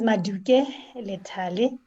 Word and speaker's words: Maluke: um um um a speaker uh maluk maluke matuke sorry i just always uh kind of difficult with that pronunciation so uh matuke so you are okay and thank you very much everyone and my name is maduke and my screen is showing that my connection